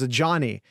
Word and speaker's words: Ajani: about uh Ajani Cornelius which is a name for the record I looked up how to pronounce before we started it is a Johnny a Johnny Cornelius uh he does have